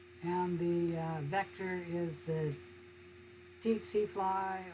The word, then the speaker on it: tsetse: The difference is that this parasite causes African sleeping sickness, and the vector is the tsetse fly, or also pronounced the tsetse fly, and pronounced for 2 other ways, I don't remember.